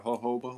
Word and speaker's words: jojoba: hoba oil, you know, joa jojoba or hoba, whichever way you want to pronounce it.